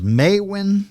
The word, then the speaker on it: Maewyn: And his name was Maewyn Succat. I'm going to spell that.